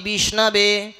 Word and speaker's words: বিষ্ণবে: পূজাপাঠ করেছেন তারা বুঝবেন একজন মূর্খ ব্যক্তি উচ্চারণ করে ওম বিষ্ণায় নমহ কিন্তু বিষ্ণায়ও হয় না সঠিক উচ্চারণ হচ্ছে ওম বিষ্ণাবে নমহ।